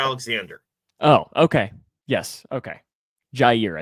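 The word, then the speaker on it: Jaire: Jair, I think is how he says it.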